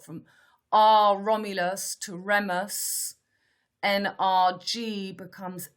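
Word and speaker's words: NRJ: g7 becomes star bullseye n r g in french that's pronounced nrg the j is a g and in france it's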